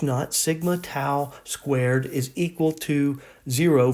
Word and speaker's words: tau: called tau t-a-u okay so we say it like ow i don't know how so almost like but not tau not not toe but um tau so